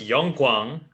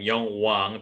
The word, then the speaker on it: Young-kwang: right now all right my name is young-kwang you many people many American people pronounce my name Jung Hwan because the K I mean the middle middle G is so weak anyway I'm from Korea